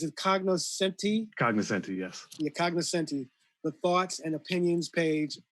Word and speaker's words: cognoscenti: and john you could correct me if i mispronounce this one uh is it cognoscenti cognizant yes the cognoscenti the thoughts and opinions page of the wbur